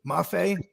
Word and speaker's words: Mafe: Then you got Mayfee. Mafe. There you go. That's how they pronounce it. Because I heard one of the announcers say it that way.